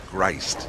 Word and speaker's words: Grist: Let me pronounce that correctly, though. It's Grist. Okay, Grist. Sorry.